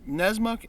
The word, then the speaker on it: Nessmuk: knife here is called The Joker nesma Carnes nesmuk n-e-s-s-m-u-c-k is how it's pronounced this knife goes for a hundred and